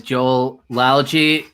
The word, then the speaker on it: Joel Lalgee: who introduce yourself absolutely so my name is joel algy it was correctly pronounced which is awesome i love when that